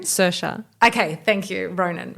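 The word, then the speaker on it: Saoirse: world Irish how do you say her name suha okay thank you Ronan right and she's on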